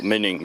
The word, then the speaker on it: Mining: 40 miles I think I'm in mining or mining as it's pronounced in German just there I'm going